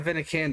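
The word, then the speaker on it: Abanikanda: Israel Avenicanda is how you say the name.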